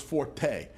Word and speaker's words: forte: The correct pronunciation of forte, it is my strong suit, is fort.